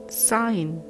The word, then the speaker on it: sign: Sign. G is silent.